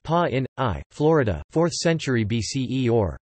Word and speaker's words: Pāṇini: Pāṇini, pronounced Pa-in-I, Florida, 4th century BCE or 6th to 5th